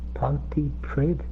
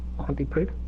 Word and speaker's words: Pontypridd: So, is it Pontypridd or Pontypridd? Pridd, isn't it? Because you do pronounce the P, don't you? Pontypridd?